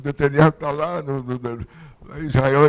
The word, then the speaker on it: Netanyahu: aliás, as pessoas falam Netanyahu, né? E eu fico até meio assim, encabulado de falar o nome certo. O nome dele é Netanyahu. Esse H não deve ser pronunciado. O Bibi para os íntimos.